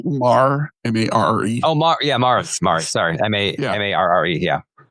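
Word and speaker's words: Marre: Mar, M-A-R-R-E.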